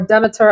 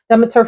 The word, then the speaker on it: Demeter: This is from Demeter, or Demeter, as some folks pronounce it, Demeter Fragrance Library.